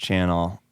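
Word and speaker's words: Channell: Channel, and it's pronounced Channel. It's like French Canadian thing. So with the double L at the end, pronounced Channel.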